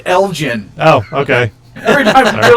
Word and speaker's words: Elgin: tassel uh the 8th through the 11th in elgin illinois captain ambivalent on the 10th online because it's been weeks now i don't mean to pick on you but it's pronounced elgin oh okay every time you're like in elgin